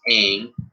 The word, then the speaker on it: Ng: sports team in north america so congratulations it's pronounced aang has more than 30 years of experience in baseball beginning of the interim with the chicago white sox in 1990.